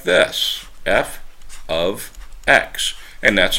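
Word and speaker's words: f(x): 5 or F of three so we say F ofx that's how we say function notation f of x okay that's how that is pronounced F ofx so the independent variable is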